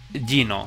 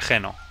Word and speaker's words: Geno: Vamos a jugar a mi juego de Gino, de Geno. Como lo queréis, como que preferís pronunciar. Venga, Gaz, supongo que se llama Gaz.